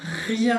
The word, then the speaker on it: rien: Y después para terminar tenemos el rien, rien, acuérdense de la R, bien, rien, que es nada.